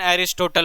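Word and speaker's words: Aristotle: अब बहुत ज़्यादा एग्जाम में देखिएगा, हिंदी मीडियम से बिलोंग करिएगा तो अरस्तु डायरेक्ट बताया जाता है, लेकिन इंग्लिश प्रोनाउंसिएशन एरिस्टोटल होता है।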